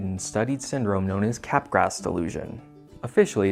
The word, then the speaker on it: Capgras: It was first documented by a French psychologist, so it's probably pronounced something like Capgras, but whatever, I'm American. Capgras.